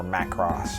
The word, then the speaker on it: Macross: Or Macross, to be correct in the animation world, but I saw Robotech before I saw Macross, so, or Macross, I guess is the proper way to say it.